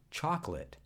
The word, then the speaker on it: chocolate: Chocolate has a central O that's not fully pronounced.